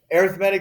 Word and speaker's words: arithmetic: are called arithmetic sequences arithmetic sequences now i am pronouncing that correctly okay i know like you learned arithmetic that's when you add subtract things but we call these arithmetic sequences um basically they're sequences